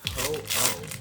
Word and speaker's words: Ho-Oh: And then someone recently corrected me and was like, it's ho oh.